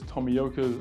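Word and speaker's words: Tomioka: at yashika's Tommy yoka I think you pronounced it like this tomiyoka's uh lens Factory DSP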